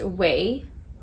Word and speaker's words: OUAI: founder of the brand and her brand is pronounced way this is the name o u a i